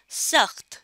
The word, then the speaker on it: سخت: تو خے کی آواز بہت ہلکی سی سنائی دے گی, سخت نہیں بولنا. اگر ہم سخت بولیں گے تو پھر خے کی آواز زیادہ آئے گی, لیکن وہ تو صحیح تلفظ نہیں ہے. صحیح تلفظ ہے اس لفظ کا سخت.